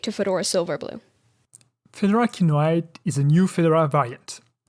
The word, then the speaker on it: Kinoite: does Kyo means so you have two options to pronounce the name kinoite the first one is the English way you say kinoite and it's as a reference to the Blue Mineral so I chose it